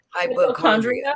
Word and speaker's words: hypochondria: I mean, if you did it the way it's spelled, hypochondria, you would think with CH.